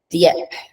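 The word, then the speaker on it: Dieppe: up the pronunciation but deep deep deep shouldn't have pronounced the E deep in France used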